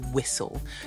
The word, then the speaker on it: whistle: the t is silent also in the word whistle you don't actually hear the T do you here's a